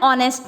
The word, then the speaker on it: honest: और बच्चों ये एच साइलेंट वाला है, एग्जाम्पल देखो, एन ऑनेस्ट मैन is always a child bye Socrates, an ऑनेस्ट मैन।